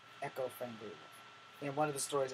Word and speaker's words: Echo Fang Grey Wolf: So now, my 21st year, as I start this, I'm going under the name of Echo Fang Grey Wolf. Let me spell that out for you, for those in the back.